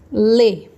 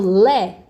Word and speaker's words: lê: Lê. Lê. Termina com E. Eu acentuo, terminado com E. Acentuo. Agora eu vou falar a palavra. Lê. Eu falo lé? Não falo lé.